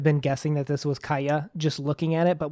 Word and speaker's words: Calla: sharper a sound and kala's spanish in our world i'm just glad that i don't struggle with the kaya pronunciation because otherwise i would